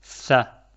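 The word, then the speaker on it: ث: Cette lettre s'appelle tha. Tha. Comme tu peux le voir, elle s'écrit comme le ba et le ta.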